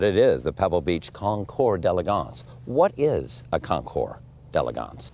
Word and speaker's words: Concours d'Elegance: hear the word and a lot of people mispronounce it but it is the Pebble Beach concore deligance what is a concore deligance well the Pebble